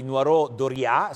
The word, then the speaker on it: Noireau Dauriat: un arrivo quello di nuoro doria si dovrebbe pronunciare in questo modo e poi equimax mi